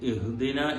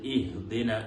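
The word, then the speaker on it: اهدنا: ഇഹ്ദിനസ് സിറാത്തൽ മുസ്തഖീം, ഇഹ്ദിന, അവിടെ പല ആളുകളും ഇഹ്ദിന എന്ന് ഹംസക്ക് സുക്കൂന് കൊണ്ട് തുടങ്ങാറുണ്ട്. സത്യത്തിൽ അവിടെ കസ്ർ കൊണ്ടാണ് നമ്മൾ തുടങ്ങേണ്ടത്. ഇഹ്ദിന, ഈ എന്നുള്ള ഹംസയെ കസ്ർ കൊടുത്തുകൊണ്ട് നല്ല ശ്രദ്ധിച്ചുകൊണ്ട് തന്നെ ഈ എന്നുള്ള ഉച്ചാരണം വരേണ്ടതുണ്ട്.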